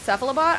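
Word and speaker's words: Cephalobot: How do you pronounce Sephilobot? I say sephilobot cuz it's like sephilopod.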